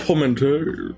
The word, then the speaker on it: portmanteau: Isn't it a No, that's not how you pronounce that. No, it's not. Portmanteau. Oh, poor man's toe. Yes, that's how you can think of it.